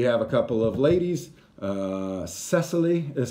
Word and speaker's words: Cecily: and then we have a couple of ladies Cecily is how you say her name she's the